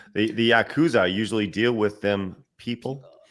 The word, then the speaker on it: Yakuza: John says don't don't the yasuka you uh Yakuza yeah I say yasuka the the Yakuza usually deal with them people and uh this